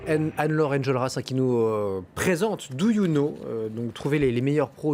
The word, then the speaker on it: Doyouno: Do You Know, donc, non pas en 3 lettres, mais voilà, 3 syllabes, Do You Know et No, N-O.